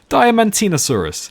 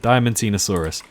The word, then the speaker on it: Diamantinosaurus: Diamantinosaurus. That's it, Diamantinosaurus.